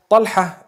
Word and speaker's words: Talha: Talha is the proper pronunciation.